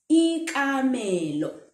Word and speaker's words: ikamelo: Ikamelo. It's still K, but we pronounce it ka.